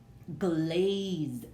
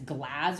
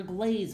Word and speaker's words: glaze: glaze let's look again let's say we're reading that we're not sure if it's glass or glaze well let's see what type of syllable it is we have a vowel letter we have a consonant there's a silent e at the end there's an e at the end when we see this pattern that pattern of VC e equals the vowel constant e syllable